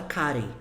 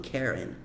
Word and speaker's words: Karen: Então, a gente fala Karen. Eles falam Karen.